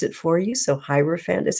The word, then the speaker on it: Hierophant: That is how you say that word, Hierophant. You can look it up, and it's really kind of cool because Google will pronounce it for you. So Hierophant is how you pronounce this.